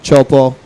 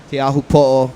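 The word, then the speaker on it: Teahupo'o: days uh out at Chopo. Thyahu po is the proper pronunciation, by the way.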